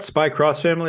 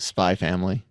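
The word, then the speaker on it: Spy × Family: my family is great don't need to pronounce the X on that one what Spy cross family it's not spy it's just spy family well so you got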